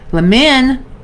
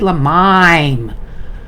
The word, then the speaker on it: Lamin: It's spelled Lamin. I thought you said Lamime. You had a big long I the last time I was supposed to be saying it, when I was saying it incorrectly.